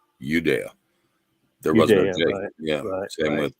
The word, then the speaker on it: Judea: tribe that came from Judea right but that's actually was pronounced udea there was yeah same